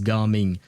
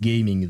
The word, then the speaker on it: Gaming: His name is Garming. It's not pronounced gaming though and he has nothing to do with gaming.